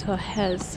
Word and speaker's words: Torres: Here in Brazil, they don't pronounce their R's like R. They pronounce them like suspiros. So Torres is Torres.